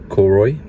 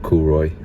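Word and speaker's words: Cooroy: we're back up at Cory we found out that's I pronounced it not coroy after speaking to locals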